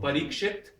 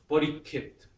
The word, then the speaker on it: Parikshit: So parikshit, parikit. Take the first syllable and you double it. Actually, you add an aspiration as well.